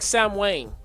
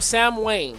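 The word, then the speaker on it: Samhain: It's It's pronounced like Sam Wayne. Okay. Oh, never said that right. Yeah. Yeah. Yeah. Yeah. Sam Sam Wayne. Yeah. Okay. All right. So, Sam Wayne was this thing that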